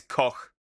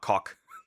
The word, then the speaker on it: Koch: It's not Koch, by the way. It's Koch. Like cook. If you want a literal translation, it's Ilse Koch. But yeah, it's Koch, not cock.